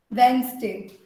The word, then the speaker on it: Wednesday: Wednesday. So the D is silent.